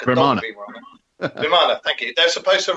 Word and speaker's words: Vimana: Oh yeah, and the Vimaras with Vimara, I don't even know how you say it. That sounds like a dog Vimara. Vimana, thank you.